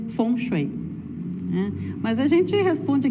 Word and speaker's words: feng shui: Então, geralmente a gente fala aqui no Brasil fengui, né, a gente ou foni, mas a pronúncia, né, digamos assim, mais próxima ao chinês seria fonchui, né, mas a gente responde aqui pro Fonché, o fenchui, a gente vai responder igual.